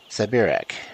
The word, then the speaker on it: Siberak: Yes, Siberak. She pronounced it differently, so it sounded like a Polish word.